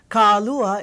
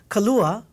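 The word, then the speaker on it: Kālua: the word Kalua okay Kalua it's not um Kala right remember a lot of people say kala there's a over this a so K AAA okay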